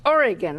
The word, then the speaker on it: Oregon: time I corrected the Harvard professor Oregon is pronounced Oregon I said he stopped he looked at me